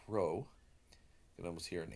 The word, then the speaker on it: Rho: is a P but it's actually the Greek letter Rho and it's like roll Randy you know Rand Paul whatever that's the Greek letter